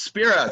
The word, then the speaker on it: Spira: over to the us with spira or spyra how do you want me to pronounce this good morning la congratulations to the lakers spire you're not there are they there i am yeah it's spira thank you so much